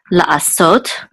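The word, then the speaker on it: לַעֲשׂוֹת: It'll be cholem also, so it'll be so, la so, and then the tav closes the syllable out, sot, la asot, which means to do or to make.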